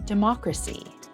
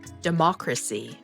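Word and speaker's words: democracy: Hệ thống chính phủ của Úc là par-luh-MEN-tuh-ree dih-MOK-ruh-see Cách phát âm có thể hơi khó. Từ Parliamentary có 5 âm tiết. Chúng ta hãy cùng nhau đọc: (par-luh-MEN-tuh-ree) (par-luh-MEN-tuh-ree) (par-luh-MEN-tuh-ree) Dân chủ có 4 âm tiết. (dih-MOK-ruh-see) (dih-MOK-ruh-see) (dih-MOK-ruh-see) Được rồi.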